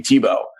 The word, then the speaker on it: Thibault: from France and in in France they'll put eight letters in a word and only pronounce like three of them in my case uh the the three letters that the sounds that would come out of the way that you spell my name would be Tebow yeah um but here